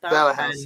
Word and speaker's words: Bauhaus: Bauhaus, yeah.